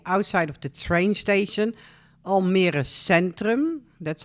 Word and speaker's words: Almere Centrum: Here you see the outside of the train station, Almere Centrum. That's how you pronounce it.